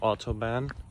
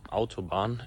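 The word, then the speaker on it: Autobahn: a bit on the autoban auto autoban actually I'm just going to pronounce it how it's really said in Germany uh because I I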